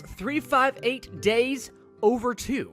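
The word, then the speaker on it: 358/2 Days: think I'm ready to move on G Hearts 358 days over two that's how you say it and it is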